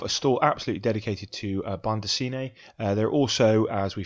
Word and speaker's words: bande dessinée: And this is known as, I think my pronunciation, let's see if I can get it right, bande dessinée.